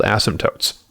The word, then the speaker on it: asymptote: These are called asymptotes. Asymptotes, again, take some time to really make sure that you pronounce it correctly. It's just in the phonetics here, but it's an asymptote.